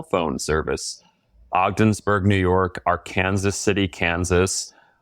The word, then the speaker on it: Arkansas: Ogdensburg, New York, our Kansas City, Kansas, which is spelled Arkansas, but because it's in Kansas, they're like, "It's pronounced our Kansas."